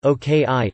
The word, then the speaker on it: okra: Word final a is sometimes pronounced I, as in okra, oki.